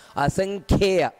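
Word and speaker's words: ಅಸಂಖ್ಯೇಯ: ಸ್ವಲ್ಪ ಗಮನಿಸಬೇಕಾದಂತಹ ಅಂಶ ಇದೆ ಅಸಂಖ್ಯೆಯ ನೋಡಿ ಕ ಅನ್ನುವುದು ಮಹಾಪ್ರಾಣ ಅದರಿಂದಾಗಿ ಅಸಂಖ್ಯೆಯು ಅಂತ ಅಷ್ಟೇ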